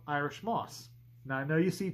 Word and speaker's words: Moos: It's just, with the German language, if you want the aw sound, you use 2 O's.